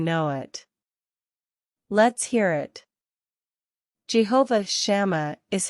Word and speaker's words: Jehovah Shammah: city the prophet Ezekiel was shown in vision Jehovah shama means the Lord is there how do you pronounce this word let's break down the pronunciation